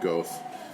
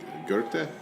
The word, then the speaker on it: Goethe: So there's I think Americans we call him Goethe. I think the Germans would pronounce it with Goethe, right?